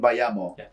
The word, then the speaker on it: Bayamo: variation um so the way it's is said sounds like let's go by amos without the s it's like saying by amos let's go with a cuban accent but the way it's